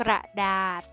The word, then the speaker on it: กระดาษ: สะกด แม่ กด ที่ มี ษฤาษี เป็น ตัว สะกด ออก เสียง เป็น เสียง ด เด็ก ได้ แก่ คำ ว่า กระดาษ อ่าน ว่า กระดาษ พิเศษ อ่าน ว่า พิเศษ ยา พิษ อ่าน